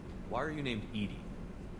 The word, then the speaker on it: EDI: specific inquiry real name why are you named edie edie is the phonetic pronunciation of edi that is an acronym for